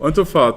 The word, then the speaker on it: Unterfahrt: Unterfahrt, Unterfahrt.